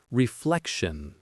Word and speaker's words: reflection: The pronunciation is reflection. The stress is on the second syllable.